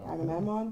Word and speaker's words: Agamemnon: Agamemnon.